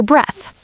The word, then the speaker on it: breath: Breathe rhymes with see. Breath rhymes with death.